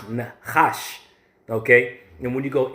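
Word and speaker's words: נחש: Even when you go into this word serpent here in the Hebrew, that word is pronounced nachash.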